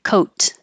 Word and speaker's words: coat: sound like d d then the vowel will be a tiny bit longer it is a tiny